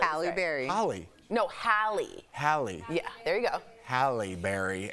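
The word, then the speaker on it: Halle: the premiere while doing press for the film Haley and Mark Holly and Mark am I saying it wrong h halberry hly no hi hie yeah there you go halberry and Mark talked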